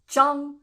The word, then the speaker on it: Zhang: These are not pronounced ang, but like Yang, Zhang, Kuang, Liang, Huang, Fang, Wang. Not Wang, Wang.